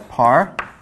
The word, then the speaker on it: par: written as a okay par beam so we pronounce this as par okay we're just supposed to suggest I think